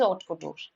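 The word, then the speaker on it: haute couture: The H is silent here.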